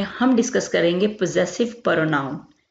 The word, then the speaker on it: possessive: Double S जो है यहाँ पे जी की आवाज देगा, पोजेसिव प्रोनाउंस।